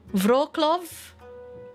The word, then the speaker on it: Wrocław: W is pronounced like V in Polish. Oh, so it's Warsaw, Krakow, Lodz, Wrocław, Poznan, Gdańsk, Szczecin, Bydgoszcz, Lublin, Bialystok, Katowice, Gdynia, Częstochowa, Radom, Rzeszów, Torun.